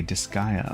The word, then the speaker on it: Disgaea: That's how you pronounce it. It's a game series. Oh, okay, Disgaea.